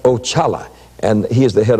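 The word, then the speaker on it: Oxalá: Now, that was the first one I met, and that's spelled O-X-A-L-A, and it's pronounced Ochala, and he is the head of all spirits.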